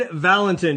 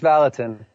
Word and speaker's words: Vallotton: Hey, Roar Nation, John Fuller here, episode 37, and I am fired up for today's guest, Vallontton. did I pronounce that right? Close. It's Vallotton.